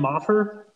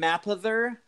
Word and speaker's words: Mapother: I don't know if my William Moffer. I don't think I'm off. Let's see what our Linus had. Nothing. Okay. It's William Mapother. You missed kind of like a syllable in there, so I don't think I can give it to you.